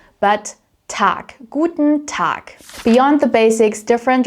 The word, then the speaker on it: Tag: So, this is a general rule for German phonetics will be pronounced as a k sound. T. Yeah. So I don't say tag, but tac.